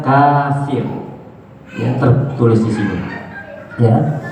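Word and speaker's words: كافر: tertulis ya Apa itu Kaf Fa dan ro bacanya kafir Ya tertulis di sini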